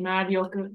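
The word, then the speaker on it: 魔力: How do you think this word is pronounced? Marioku. Perfect. Marioku.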